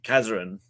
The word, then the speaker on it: Kazaran: Um, so it was a so it used to be um pronounced as um Kazarin, which used to be my uh professional wrestling name uh back in like 2018 or so.